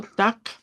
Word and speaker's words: Tag: Bueno, entonces el sufijo TAC es equivale a lo que es día. recordando que se pronuncia con K.